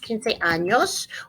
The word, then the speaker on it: años: 15 años. We're going to put the tilde over the ñ to make it ña sound.